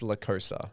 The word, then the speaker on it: La Cosa: They pronounce like La Cosa. Yeah. It's La Cosa.